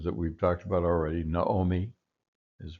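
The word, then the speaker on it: נָעֳמִי: Here you have the two O sounds in a row for Naomi, Naomi, Naomi, as we would say in English, Naomi, but Naomi is the pronunciation here.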